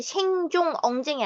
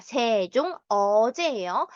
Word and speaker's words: 세종어제: 이 세종이지 생종 엉쟁이 아니라 세종 어제예요.